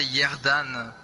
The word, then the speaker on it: Ierdan: So how do you spell that in English? Yeah, normally I say Yerdan or you're done.